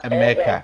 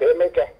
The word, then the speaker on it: Emeka: Just to correct that, you don't pronounce my name completely, it's Dr. Emeka. Emeka. Emeka.